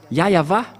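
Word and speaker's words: Yahweh: ici chez les Orientaux il prononce vraiment le W par un V ou par un B c'est ici qu'on voit clairement que le W est bien un V mais ce sont les Occidentaux qui l'ont changé en ou mais pour les Orientaux ils prononc bien le W en tant que V mais c'est le V qui est V la bonne prononciation et c'est pourquoi ils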